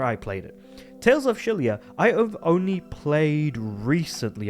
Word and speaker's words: Xillia: Now, Tales of Shilia, spelled with an X, mind you, um basically came out on the PS3 alongside basically in that generation.